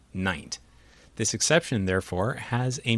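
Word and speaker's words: nint: assigned an exception pronunciation instead of being pronounced like its neighbors lint or mint n-i-n-t was pronounced like pint so this exception was pronounced night this exception therefore has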